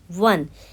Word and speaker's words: one: अगरचे वन एक vowel letter से स्टार्ट होता है, ओ से स्टार्ट होता है, लेकिन साउंड जो यहाँ पर निकलता है, प्रोनाउंसिएशन जो है that is ऑफ W, वन, यानी verse sound. Verse sound is a consonant sound, so it will take article before it.